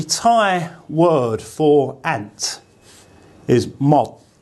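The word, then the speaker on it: มด: So this word for ant is just an M sound, and this character, which makes a D sound, as an initial consonant.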